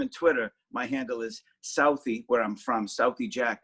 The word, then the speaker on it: Southie: Every time I say it and I don't spell it, people think selfie Jack, but no. Well, although I take a lot of selfies, I guess, but it's Southie, my neighborhood in Boston. For sure, and we'll also